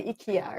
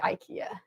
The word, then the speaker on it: IKEA: So in Malaysia, you guys say IKEA, right? Yeah. But in America, we say IKEA. So then when like IKEA is doing their marketing in different places, they'll pronounce it however the locals pronounce it, which is super cool.